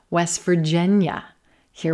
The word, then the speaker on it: West Virginia: All right, let's try West Virginia, West Virginia. Here we have silver pin, West Virginia. Again, not emphasizing the word West, we're emphasizing Virginia, Virginia.